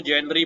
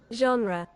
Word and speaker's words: genre: ये क्या लिखा हुआ भाई, ये हम लोग तो इसको जेनरी पढ़ते हैं पर गोरे इसको पता नहीं क्या प्रोनाउंस करते हैं, अजीब सा है, योनरा, योनो